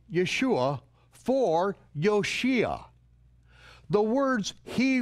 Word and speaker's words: Yeshua: Greeks, the English, or by those who mispronounce the letter J. Heaven sent a messenger to earth with the divine instruction to call him Yeshua.